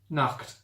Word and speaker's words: Nacht: Nacht. Yeah. That's how you pronounce night.